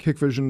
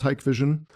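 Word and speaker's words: Hikvision: Um Hikevision, it looks like it's spelled like Hickvision, it's Hikevision, also a Chinese company.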